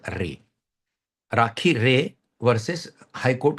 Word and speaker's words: Ray: Rakhi Ray, we can pronounce as a Ray.